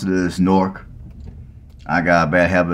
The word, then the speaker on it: Newark: in Lincoln County well the proper way to pronounce it is Newark I got a bad habit of City Newark but really the proper way to pronounce it is Newark so welcome to Newark Ohio now Newark Ohio